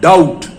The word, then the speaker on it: doubt: उसके बाद डाउट, DOUBT। इसमें बी है लेकिन प्रोनाउंस नहीं की जाएगी।